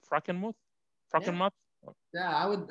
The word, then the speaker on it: Frankenmuth: I pronouncing it right Frankenmuth Franken mouth yeah I would we say Frankenmuth because we just americanize it but and the classic German it would be more like Franken mot H it's a German towns